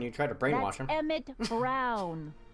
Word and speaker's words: Brown: try to brainwash Emmett Brown rhymes with clown which I'm beginning to